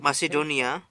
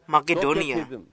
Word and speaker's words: Makedonia: ajarat yang kedua adalah C diucapkan sebagai K seperti makedonia dalam bahasa Inggris disebut makedonia dalam bahasa Inggris itu masedonia tapi sebenarnya itu berbunyi huruf k makedonia dahulu doketisme berasal dari